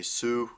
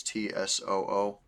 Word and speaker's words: Tsoo: Most people say Soo. It's Tsoo. I've heard dialogue that apparently it's supposed to be pronounced Chew. I don't know which one. I keep defaulting to Sue.